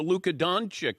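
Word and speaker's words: Dončić: she said yeah did you hear about the Luca donick is that how you pronounce his name I go you know it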